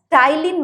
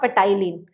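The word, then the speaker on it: ptyalin: we pronounce it as tyin not pyin so the spelling starts from p and pronunciation starts from T So salivary Ames and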